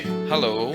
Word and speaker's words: halo: You go up to an Indonesian and you say hello. You have to say hello and not hello if you want to reach Indonesian native speaker pronunciation levels.